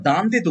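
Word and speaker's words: Dante: ইটালিতে দানতে বিশাল ব্যাপার আমরা দটাকে সফটলি উচ্চারণ করতে পারি দানতে বলি আমেরিকানরা বা ইউরোপিয়ানরা জানে এরকম বলে দটাকে হার্ড উচ্চারণ করে কারণ ওরাবিডেন্টাল ক্রিকেটে উচ্চারণ করতে পারে না জান এরকম করে উচ্চারণ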